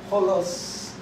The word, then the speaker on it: holos: this is the word called, it is called holos. Not W-H, but H-O-L. Holos. This is what he says when he says all. Whole means the whole, the substance, the fullness, doesn't it? That's the Hebrew. But holos means it begins with every whit.